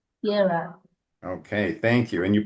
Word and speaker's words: Gerar: Well, it's never certain, but Gerar. Gerar.